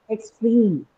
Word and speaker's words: extreme: Stream in the second word extreme again carries a long vowel.